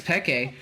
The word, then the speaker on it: Pekke: went on cast and started calling my ex peke and everyone blew up at me everyone blew